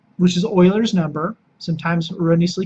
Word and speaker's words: Euler: We take E, which is Euler's number, sometimes erroneously called Euler's number, because it